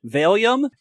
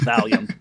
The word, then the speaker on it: Valium: him to give Tis some uh as he pronounced it, Veium.